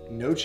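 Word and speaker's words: gnocchi: right is the stuffed noche i think that's how you say it this the g is silent you guys are going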